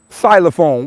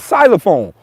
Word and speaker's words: xylophone: that ain't right xylophone why the is it an x in front of xylophone why was silent spell it with an s xylophone the [ __